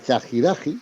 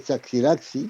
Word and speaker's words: Chaxiraxi: la Virgen de Candelaria, la Chajiraji, que es Ujú. lo que se tiene que pronunciar, o Chaxiraxi. Bueno, en realidad la gente, el pueblo pronuncia Chaxiraxi Sí, por la X, pero en la pronunciación, como veremos después, ¿no?